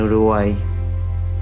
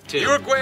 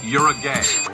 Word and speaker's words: Uruguay: Uruguay agrees. Uruguay sounds like you're a gay. Backyard barbecue. Uruguay kindly requests that Somalia stop pronouncing it you're a gay.